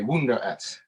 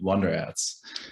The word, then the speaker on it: WunderAds: german a german way wunder s um i actually pronounce that the english way it does have an